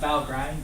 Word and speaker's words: Valgrind: Not Valgrind, but Valgrind is the pronunciation.